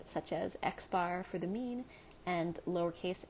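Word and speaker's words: x-bar: x with a bar over it and that's pronounced x bar x with a bar over it and similarly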